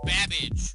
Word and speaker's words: Babbage: Your buzzer is the letter B as in Babbage, which is something that rhymes with cabbage.